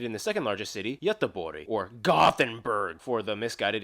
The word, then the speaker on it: Göteborg: the second largest city, Göteborg, or Gothenburg for the misguided English speakers. Göteborg actually also has the largest shipping port in the... Göteborg? That's how it's pronounced.